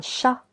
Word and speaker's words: chat: A first animal will be un chat. Un chat. Letter T is silent.